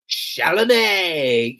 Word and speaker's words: Chalamet: You have to say it like this. Alex, say it. Chalamet. You gotta say it like Adam Sandler.